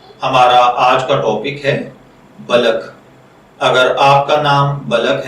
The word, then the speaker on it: بلک: اپنے آج کے ٹاپک بلک کی جانب۔ بلک کی اردو املا میں جو حرف استعمال ہوتے ہیں وہ ہیں بے، زبر لام بل، کاف ساکن بلک، جبکہ انگلش میں اس